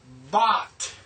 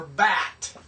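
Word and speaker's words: בת: to the next consonant this is bot or bat b a t this means daughter so see you've learned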